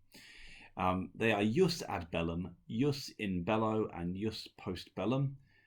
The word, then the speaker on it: jus: are you sad bellum yes in Bello and yes postbellum the J is a soft J so that means it sounds like a why that's just how we pronounce in Latin so I'm gonna go